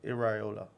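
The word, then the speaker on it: Iraola: No, it's not Areola. It's Iola.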